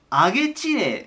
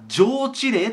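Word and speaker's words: 上知令: の知令、これ読み方 2 個あるんですけど、上げ知令または上知令と言います。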